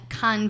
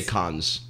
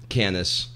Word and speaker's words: Cannes: bloopers and little fun Why don't we say Cannes? Canis. Because it's not how you say it.